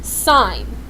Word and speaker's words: sine: I n of theta that is not pronounced sin theta that is pronounced sine of theta and sign is always